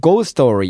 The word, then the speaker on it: ghost story: Ghost story. Ghost는 유령이고요. Story는 이야기예요. 그래서 ghost story. 연결해서 발음하면 go story 이렇게 돼요.